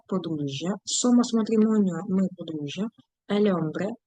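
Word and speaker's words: hombre: сомас матрімоніо ми подружжя ельмбре х не читається чоловік ну ось же ж чоловік м як мужчина одружений неодружений Немає значення Марідо одружений.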